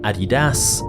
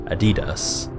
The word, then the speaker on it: Adidas: Depending on where you're from, you may pronounce it Adidas, or personally, I've always heard Adidas.